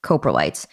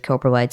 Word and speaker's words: coprolites: can actually learn a lot from coprolites or coprolites. I've heard it pronounced both ways. And we'll talk more in detail with Karen Chin about everything to do with coprolites and the things you can learn from it.